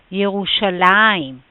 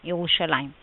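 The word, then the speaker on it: ירושלים: it just right now the pronunciation should be yerushalayim yerushalayim now let's focus first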